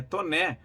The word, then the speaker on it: Taunay: da Tijuca na Rua Visconde de Taunay é Thomé o nome do Visconde de francês e Visconde de tô né o carioca tem este costume de aportuguesar os nomes e por que os